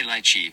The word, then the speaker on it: lychee: According to the Cambridge Dictionary, you can pronounce lychee two ways. The British say lychee, while Americans say lychee.